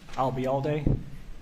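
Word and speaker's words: Albayalde: If you remember the phrase, I'll be here all day, and drop the here, I'll be all day, you got it.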